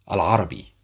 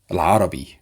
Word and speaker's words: العربي: Arabic, we say Al-Arabi, Al-Arabi, or اللغة العربية. But it's more common to say Al-Arabi, okay?